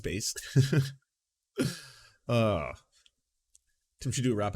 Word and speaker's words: Bass: that so you know lance bass pronounced bass didn't should do a